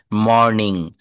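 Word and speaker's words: morning: এই যে দেখেন, আর এর পূর্বে কিন্তু এখানে ভাওয়েল আছে ও, আবার আর এর পরে কনসোনান্ট রয়েছে এন। মর্নিং, good মর্নিং। আমি বলি না গুড মর্নিং, গুড মর্নিং, এখানে এনটা কিন্তু ওই আরটা টোটালি সাইলেন্ট থাকবে।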